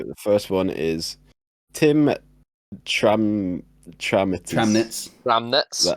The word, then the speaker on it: Tramnitz: So the first one is Tim Tramnitz. Tramnitz. That how you say it? Tramnitz, yeah.